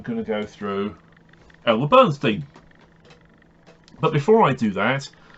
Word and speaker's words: Bernstein: my Bernstein Bernstein you're putting me on no it's pronounced Bernstein do you also say